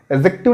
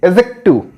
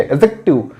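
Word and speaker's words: adjective: Noun, pronoun नहीं, pronoun, एडजेक्टिव नहीं, एडजेक्टिव, यहां डी साइलेंट होता है। ठीक है, एडजेक्टिव, verb, adverb, preposition, conjunction और इंटरजेक्शन।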